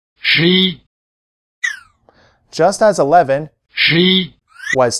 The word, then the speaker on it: 十一: Say 11 after the speaker, and notice the stress is on the second syllable. 十一. 十一.